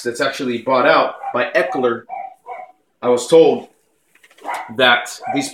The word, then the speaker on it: Eckler: okay but it's it's not max it's its Eckler so it's spelled e ck l er Eckler and I